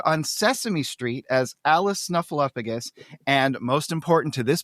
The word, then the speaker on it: Snuffleupagus: she has appeared on Sesame Street as Alice Snuffleupagus and most important to this podcast she was